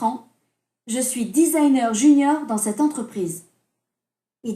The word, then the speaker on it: designer: Donc, le métier de Céline Baudin, bon, on va mettre Céline, ça ira plus vite, est designer. Vous remarquez qu'ici, on prononce comme en anglais, mais avec l'accent français, non?